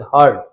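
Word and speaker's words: heard: हियर का second form हर्ड होता है। हियर्ड नहीं बोलेंगे। हर्ड।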